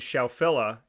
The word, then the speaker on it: Scheffler: Xander, you know, to the work that he put forward, and Scheffler is how, that's how it's said you're supposed to pronounce it here. But looking at, you know, we're looking at this, and I'm not.